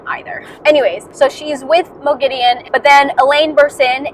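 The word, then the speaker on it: Moghedien: Let me say that in the last audiobook, the narrators were pronouncing Mo Gideon's name as Mogadine, and so I started saying that because I thought that was the right way to say it, but in this book, they're saying that it's Mo Gideon. So now I'm going to try to say Mo Gideon.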